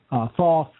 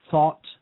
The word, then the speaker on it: Thoth: Different pronunciations for that: Thoth, Thoth, Thoth, Thought. I simply say Thoth.